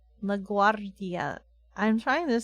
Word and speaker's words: LaGuardia: oh I see okay LaGuardia that sounds weird where the pronunciations are all over the place say it again LaGuardia you got it perfect that time LaGuardia you only roll double RS oh really this is